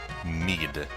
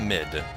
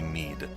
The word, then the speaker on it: Mid: This is actually pronounced Mead, not Mid. Everyone said Mid when this game first came out in North America, but it's actually Mead.